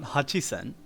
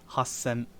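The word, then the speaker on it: はっせん: would we say that it's not it's not hachi sen it's hassan so that's like trying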